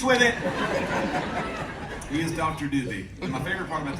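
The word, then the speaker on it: Dube: His name's spelled D-U-B-E. People come in all the time. They don't want to pronounce it wrong. I'm here to see Dr. Dubé. Got an appointment with Dr. Dubé. She's like, it's okay. It's Dr. Doobie.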